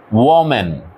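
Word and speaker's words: woman: প্রথম এটার উচ্চারণ হচ্ছে ওম্যান ও বল ওম্যান ঠিক আছে এবার প্লটা এটার উচ্চারণ উম্যান উইম্যান ঠিক আছে সিঙ্গুলারটার উচ্চারণ হচ্ছে ওম্যান প্লুরালটার উচ্চারণ হচ্ছে উম্যান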